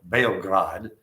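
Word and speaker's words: Beograd: It's called Bograd. I like the way the Serbians pronounce it. So, I'm going to call it Bograd.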